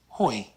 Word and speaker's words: hoi: The OI is also very easy, as in the word hoi. Hoi.